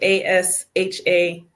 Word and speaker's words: Asha: but I tell people it's like Tasha without the T. So ASHA and then Janine JENEEN. Okay. So I was saying your name correct, Asha, right? Yeah, you got it. It's Okay. spelled and pronounced just like Tasha. There's just no T.